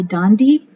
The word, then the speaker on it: Dandi: of christmas giving and it was written by dondy that's how you pronounce her name daley mccall and illustrated by